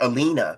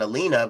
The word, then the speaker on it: Elena: So it was something between Elellanena and Alina before, you know, Capcom kind of set the record straight and said, "No, it's it's Elena."